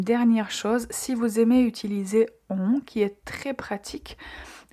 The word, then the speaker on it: utiliser: Euh une chose qui est particulière, c'est cette lettre S qu'on prononce comme Z. Comme euh la lettre S voyell et pour cette raison, on dit utiliser, donc à bien prononcer Z.